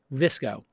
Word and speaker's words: VSCO: That app is called VSCO. And it's spelt like disco, but with a V and no I, VSCO.